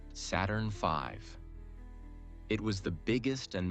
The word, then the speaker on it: Saturn V: The rocket they used was called Saturn V, pronounced Saturn V.